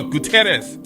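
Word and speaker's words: Gutiérrez: No, Gutierrez Enterprise. Is that right? You got it. Yeah. Yes, roll your R's. Yeah, it is 2 R's.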